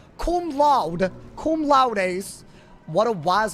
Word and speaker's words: cum laude: What is it called when you graduate like cum laude?